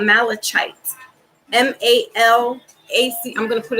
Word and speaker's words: malachite: It's like Malachi.